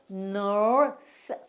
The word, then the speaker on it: north: 쓰는데 뭐라고 발음해야 돼? north, north, north 이렇게 발음하셔요. north 이렇게.